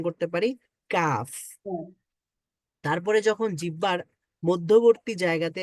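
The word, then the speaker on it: ك: সামনে এসে heart প্যালেটে touch করে তখন আমরা উচ্চারণ করতে পারি কাফ তারপরে যখন জিহ্বার মধ্যবর্তী জায়গাতে এসে আমরা উপরের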